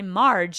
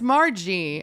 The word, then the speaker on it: Margie: I was gonna say I've been saying Margie, and I've heard other people at open mic say Marge, and then I thought, am I saying it wrong? No, it's Margie.